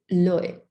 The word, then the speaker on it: l'œil: me, I forgot to write this down, it's l'œil, and it's spelled O-I-E-L.